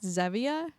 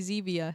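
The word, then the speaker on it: Zevia: don't have any Zia I'm pronouncing it correctly now I was pronouncing it zavia and it's actually Zia so yeah I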